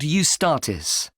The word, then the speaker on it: Eustatis: there's a performance by a ballet company called eustatis sorry the name is spelt e u s t a t i